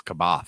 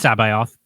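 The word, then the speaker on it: C'baoth: what a dumb name i thought it was kabat it's sabai auth that's how the audiobook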